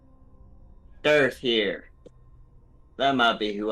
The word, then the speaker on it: Durth: And it's signed by Durth. Durth. Not like black. Durth. Earth? Durth. Durth. Durth. Pronounced Durth.